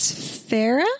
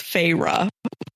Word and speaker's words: Feyre: So, um, her name, you find out at some point, is Farah, or how do you pronounce it, Holly?